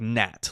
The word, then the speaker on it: gnat: a silent G so it's g n a t whatever so like Gat like the little bug that's like the super annoying bugs that there's millions of at